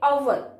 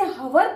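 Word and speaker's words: hour: हमें इसमें hover नहीं पढ़ना है, हमें पढ़ना है इसे our. कैसे बोलेंगे? Our. इसकी जो साउंड है उस पर ध्यान देना है. H यहाँ पर साइलेंट है.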